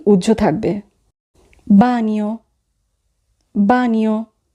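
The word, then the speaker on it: bagno: এখানে জি উজ্য থাকবে বানীয় বানীয় টয়লেট এখানে যদি বানানটি খেয়াল করি তাহলে আমরা দেখব সবার শেষে আছে জি এন এ অ জি এন এর উচ্চারণ হবে নিয়া বানানীয় এখানে জি উজ্র আছে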